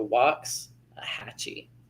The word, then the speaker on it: Waxahachie: raised from waxahachie yes it is a long a in the beginning and that short a in the beginning so walks a hatchy i like waxy hatchy like i said sounds